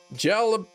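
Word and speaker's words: jalapeño: It's pronounced with an H sound.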